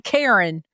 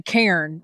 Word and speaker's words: cairn: It is a cairn. Not a Karen, but a cairn, right? Am I saying that right? Cairn. One syllable. One syllable. Cairn.